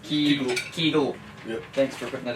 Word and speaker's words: Kegel: Kegel, pronounced Kegel.